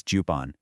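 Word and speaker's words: 十本: One is ippon, six is roppon, eight is happon, and 10 is juppon.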